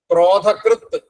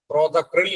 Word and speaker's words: ക്രോധകൃത്: അതാണ് ക്രോധഗനേ നമ ക്രോധഹ അടുത്തത് ക്രോധകൃത് ക്രോധക്രിൽ എന്നൊക്കെ പറയാം ക്രോധകൃത് ക്രോധത്തെ കൃത് ആയിട്ടുള്ള